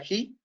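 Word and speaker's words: ξ: La letra, para los que no saben griego, para los que no saben del alfabeto griego, se pronuncia GI.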